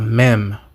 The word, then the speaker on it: mem: The 13th letter in the Hebrew alphabet is a mem, what we would pronounce as an M.